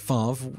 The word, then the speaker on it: Favre: The First Completed Pass ever thrown by Brett Favre (note to Simon- pronounced “Farv”) was to himself… In his first official play